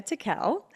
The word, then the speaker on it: Tickell: I I was like Tiel TI Tiel and then I say it wrong tickle but yes Rebecca Teel and she is along